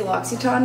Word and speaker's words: L'Occitane: That's how I feel whenever I say L'Occitane now. Yeah, well, when you said that yesterday, I'm like, oh, that's how you pronounce it.